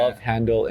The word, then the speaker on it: Love Handle: No S. I've been pronouncing No it S. Yeah. Love Handle in the singular.